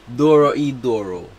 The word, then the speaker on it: Dorohedoro: Dorohedoro.